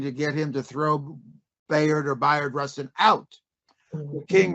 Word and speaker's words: Bayard: Uh you have to tell me how to pronounce his name, Bayard or Bard Rustin? Uh Byron, I think Byron Russ was, as you know, in King's inner circle.